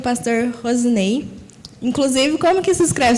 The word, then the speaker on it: Roseney: Então, zis não tem, né? É rosinei, mas é na verdade rosenei que se escreve R S e N y Rosenei.